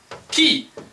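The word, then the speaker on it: き: c next one is key key key as in you know you use those open the door key notice the I once again is pronounced e key this is 1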